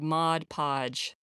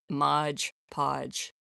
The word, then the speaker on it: Mod Podge: I was this week years old when I was educated this is called Mod Podge and not Modge Podge.